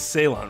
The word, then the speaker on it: Ceylon: It's Ceylon, right? That C is pronounced like an S? That's true. The Japanese song could have made a lot more sense. C-E-Y is pronounced suh? That's interesting.